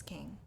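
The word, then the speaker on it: Qing: This is a fragment of the covetous king. Okay. King is spelled with a Q, by the way.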